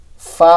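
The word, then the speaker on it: ف: ফা উচ্চারণের ক্ষেত্রে নিচের ঠোঁটের পেট সামনের উপরে 2 দাঁতের আগা, ফা এরকমভাবে হবে।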